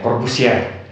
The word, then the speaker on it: Corbusier: Di sini bacanya Corbusier. Itu orang Prancis, Le Corbusier.